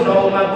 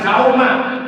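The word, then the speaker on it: صوم: Nah, untuk niat puasa tiap hari, nawaitu shauma godin. Shauma, jangan sauma, pakai son. Sauma pakai son artinya puasa. Kalau sauma pakai sa artinya bawang merah.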